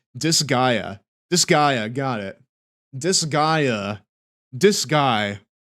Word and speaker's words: Disgaea: It's pronounced Disgaea.